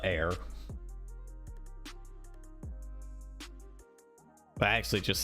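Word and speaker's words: Bair: We spell it bear, B-A-I-R. But air.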